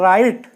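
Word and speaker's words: write: सामने लिखी हुई है जब डब्लू आर से पहले आता है और जब डब्लू एस के बाद आता है तब दोनों कंडीशन में साइलेंट होता है दोनों का देख लीजिए जैसे यहां मैंने लिखा है राइट ये बहुत सिंपल शब्द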